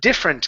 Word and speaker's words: different: one here is um different give me a short I sound here instead of different d it's a the different different okay good so and